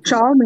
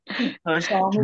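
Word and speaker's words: Xiaomi: आहे हरकत नाही हो शावमी आहे ना सर त्याला शाओमी म्हणतात सर शावमी म्हणतात का मला नाही हो शामी बरोबर आहे हा ठीक आहे मी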